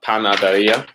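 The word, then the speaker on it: panadería: RIA with an accent on the I. The first one that we did today was an example of that. La panaderia, right?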